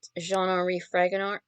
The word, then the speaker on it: Jean Fragonard: as the reader by je re fragonard but jean fragonard but let's here's a french- speaking person or